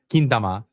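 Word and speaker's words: 金玉: That's actually kintama is how they say it.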